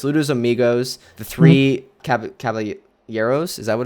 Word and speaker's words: Caballeros: this era included it's ludos Amigos the three cavalieros is that what it's called how it's pronounced yes I think some yeah the three Caballeros uh make mine music fun and fancy free